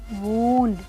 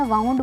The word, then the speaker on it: wound: मैं बताती हूँ कि मैं जब छोटी थी मैं इस वर्ड को गलत प्रोनाउंस करती थी, मैं वाउंड बोलती थी। होता है कई बार हमें नहीं पता होता, तो आप भी अपना करेक्ट कर लीजिए। वूंड है ये, वूंड।